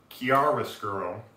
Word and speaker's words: chiaroscuro: Now, his name, Rascuro, comes from the Italian that is chiaroscuro, I believe is how it's pronounced.